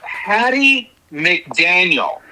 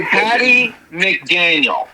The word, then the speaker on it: Hattie McDaniel: Well, let's give her, her the proper pronunciation. Okay. Hattie McDaniel. McDaniel, thank you, Gar. Thank you. Hattie McDaniel.